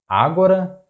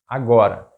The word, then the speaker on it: agora: How do you pronounce it? Ágora, agóra or agorá? The correct pronunciation is agora.